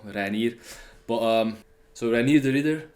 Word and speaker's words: Reinier: That's how you pronounce it as well, Reinier.